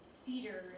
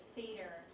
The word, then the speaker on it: Seder: I do remember this thing about the woman saying cedar instead of seder, and I picked on it only because to note the lack of training.